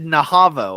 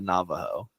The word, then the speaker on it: Navajo: Kiku Ki the Maui or the Nao the Navajo all right is that the answer is that is that what you think the answer is you said you said naho I can't read yeah I said Navajo wrong